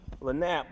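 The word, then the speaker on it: lagniappe: If you do know that word, guys from Louisiana, if I'm pronouncing it wrong, just know that that's how it's pronounced in Lake Charles, Louisiana, where I'm from, okay? LANAP means, it means something extra.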